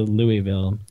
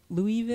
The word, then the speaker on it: Louisville: true that is true if you ever want to say it right just eat a handful of marbles and then say it close there you go that's